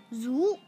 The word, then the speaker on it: 足: Its pronunciation is like this. Zu, zu, zu.